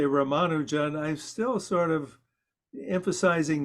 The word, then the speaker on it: Ramanujan: I say it correctly because in India, there aren't emphases on syllables. So in other words, it's even Ramanujan. So we in the West, when we say a name like that, it's you know inevitable we emphasize a syllable.